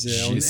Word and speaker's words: Gijs: Eles dão uma tentativa, Giz, Reis, mas Giz. é o nome.